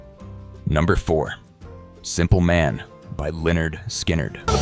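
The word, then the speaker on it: Lynyrd Skynyrd: Number four, Simple Man by Leonard Skinnard. A little bit of rock and roll. Strip away the solos and southern swagger and you get the heart of Leonard Skinnard.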